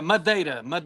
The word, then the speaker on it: Madeira: How do you pronounce it, Joe, properly? Madeira.